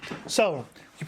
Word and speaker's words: Cao: to be sow sow sow is spelt with the C in Chinese I was like is it sounds to me like tile tile sometimes but it's actually like TS like pants so it's south style